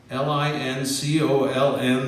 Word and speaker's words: Lincoln: Our city's namesake, Abraham Lincoln, Lincoln, the second L is silent, spoke of our nation being conceived in liberty.